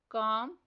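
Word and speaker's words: calm: Next word है काम। इसमें से साइलेंट लेटर एल बॉक्स में राइट करना है।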